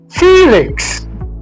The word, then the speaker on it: Felix: The stress is in the first syllable. All right. Okay. So we have F e Felix. Felix. So this sound is not the same as this.